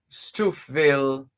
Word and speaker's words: Stouffville: On the face of it, the way it's spelled here, looks like Stouffville, as opposed to Stouffville. Let's work with Stouffville. And you can tell us if that is accurate, Anne Thornley Brown.